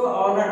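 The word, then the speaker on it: honour: अब देखिए यहाँ पे इसको हॉर्नर पढ़ते हैं या ऑनर पढ़ते हैं, इसको ऑनर पढ़ते हैं, ठीक है, देखिए ओ आ रहा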